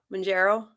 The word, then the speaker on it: Mounjaro: When you say Mounjaro, do you say Mounjaro or do you say it like Kat says it? Kat, say it real quick. Mounjaro?